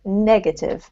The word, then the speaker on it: negative: Don't forget, positive has the emphasis on the first syllable, so positive Positive, as well, and the same with negative, right?